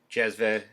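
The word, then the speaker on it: cezve: there's about nine different modern turkish orthography has the letter c pronounced j so you might see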